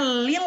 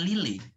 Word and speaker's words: Lille: Bacanya Lil apa Lile Mbak? Lille, bacanya Lil ya? Ya. Oke, jadi bukan Lile. Bukan Lille, bukan Lille.